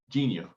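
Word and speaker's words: Jeen-yuhs: It's spelled like it's spelled like jeans. Right. Like, well, no, not even that. It's JEENUYUH. Genius. Genius.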